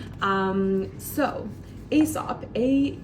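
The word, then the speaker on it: Aesop: Asop. Starts with a, it's kind of a funny word. Let me help you. Starts with that a a e e sop. So that's your s sound.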